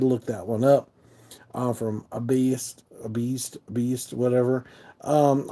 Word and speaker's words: Baest: Looks like beast, but it's all the E and A are backwards. A beast. A beast, I think, is how you say it.